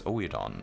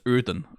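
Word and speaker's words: Oedon: of pronunciations yeah I I got this from my community a million times that it's uran right like because it's OE which in certainly in Danish um is an u sound which is yeah that's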